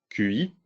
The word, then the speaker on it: Qi: Alors le Qi, QI, faut prononcer Qi, ça veut dire souffle en chinois, c'est le standard qui est utilisé par le Wireless Power Consortium.